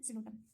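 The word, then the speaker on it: Psilotum: P silent होता है, just उसके बगल में सिलोटम, उसमें भी पी साइलेंट है।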